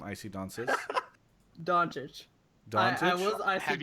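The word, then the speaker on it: Dončić: IC Donsis. How do you say your name, IC Donsis? Doncic.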